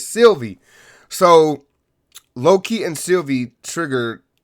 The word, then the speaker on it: Sylvie: sylvie sylvie that's it god damn i said her name wrong sylvia i'm so sorry it's sylvie so loki and sylvie